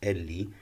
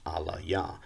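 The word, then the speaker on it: אֵלִי: attached to it and this word my god in standard hebrew is pronounced elli and the proponents of la shawan kodash say that that is an incorrect pronunciation they claim it's a yiddish pronunciation they claim that the actual pronunciation is allah yah they take the position that every hebrew character has only one uh possible vocalization and therefore uh they say that this word would be alaya now what's interesting here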